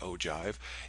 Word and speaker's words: ogive: it for relative frequencies an ogive or ogive depending on how you want to pronounce it I think most people pronounce it o Jive it's um a your